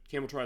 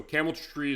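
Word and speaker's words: Cameltry: But apparently it is pronounced the way it looks. So I want to correct that record. So camel tree is what I used to call it, but it's camel try.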